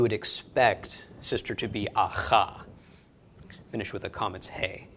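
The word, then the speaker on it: אח: Okay, then an aleph with a kametz, followed by a chet. Aleph is silent, kametz makes the a, chet is ch, so ach.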